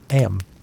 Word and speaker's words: Eyam: Eyam, you know, is pronounced just like 'em.